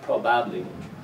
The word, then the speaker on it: probably: Same thing with this word here, probably. This first syllable is the strong one, so the ba of the second syllable becomes weak. The, probably, not probably, probably.